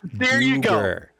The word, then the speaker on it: Duergar: But but To me it's always been Duergar. The official DDO players pronunciation is going to be Duergar.